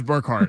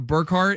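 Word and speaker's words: Bergert: Brent told me it was Birkhard. I was I went to ask Jim. I was like, "It's not Birkhart. It's It's like It's like Kevin Burkhard."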